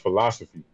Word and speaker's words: FILOSOFI: first off um is is pronounced philosophy so it's pretty much the word philosophy see I always went